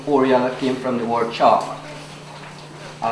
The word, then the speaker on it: Orealla: The name Orealla came from the word chalk. In the Amerindian dialect language, Arawak, they call chalk Auyara, which means in English spelling O-R-E-A-L-L-A, pronounced as Orealla.